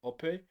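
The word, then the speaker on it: Opé: And two, in his of Nigerian descent, and his name should be pronounced Ope.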